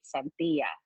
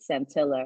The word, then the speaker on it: Santilla: So actually on the stage and in my real life right now, I go by Santilla as opposed to Santilla or Santilla, which is how a lot of Filipinos pronounce it.